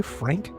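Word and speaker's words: Phranque: They spell it weird on purpose, so it's P H R A N Q U E Frank.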